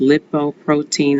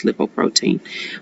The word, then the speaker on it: lipoprotein: It's pronounced lipoprotein. I know I was saying lipoprotein, but the correct terminology is lipoprotein.